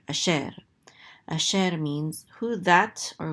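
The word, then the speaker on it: אֲשֶׁר: shin with a segol, so it says so this is she, and this resh closes out the syllable to say sher, asher.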